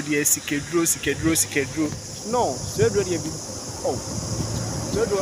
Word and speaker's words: Swedru: But when you say, "Sikedro, Sikedro," as in people have been saying, "Say Swedru, dear, Sikedro, Sikedru, Sikedru." No, Swedru, dear, be.